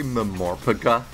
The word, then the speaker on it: MMORPG: I'm sorry, did you just say Memorpiga? Yeah, people say- Memorpiga. Some people pronounce it as a word, yeah. What? Some people pronounce MMORPG as a word, yes.